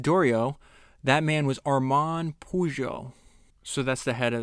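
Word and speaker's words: Peugeot: For August Dorio, that man was Arman Pujo.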